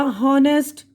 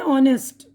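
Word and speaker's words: honest: अब ये है ऑनेस्ट, ये ओ से, ठीक है ना।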